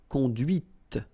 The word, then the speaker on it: conduit: C'est la voiture que tu as conduite. And that's when you hear the difference between conduit, because remember, final T is not pronounced, conduit here, and then the feminine, conduite.